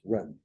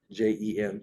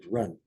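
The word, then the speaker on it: 仁: Or it looks like it's Jen, but it's actually pronounced run. Jen, run.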